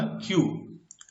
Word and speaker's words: queue: Spelling है QUEUE, क्यू. Pronunciation इसका होगा क्यू.